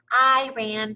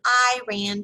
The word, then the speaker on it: Iran: often kids tried to be funny by chanting i ran to iran i ran to iran the correct pronunciation i always inform them is iran ran is a sentence i told them as